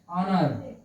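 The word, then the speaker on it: honour: एक एग्जांपल और देख लीजिए, ONOUR, क्या हो गया? ऑनर। ऑनर। ऑनर means, ऑनर means हो गया इज्जत, ठीक है, इज्जत। देख लीजिए, इज्जत हो गया, ये एच को साइलेंट कर दिया गया है।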